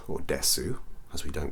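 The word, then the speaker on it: です: The same thing happens with probably a particle, or well, actually it's a word that you're very familiar with, which is des.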